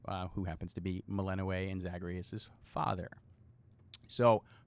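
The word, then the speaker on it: Melinoë: to be playing as meleno oh let me pronounce the name right meleno right who happens to be the little sister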